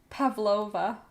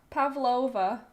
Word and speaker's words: Pavlova: It's pronounced with a V to Google. So, Pavlova. Pavlova.